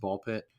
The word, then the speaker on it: Ball x Pit: You said last episode you think it's pronounced Ball Pit. That's what I've heard. The X is usually silent.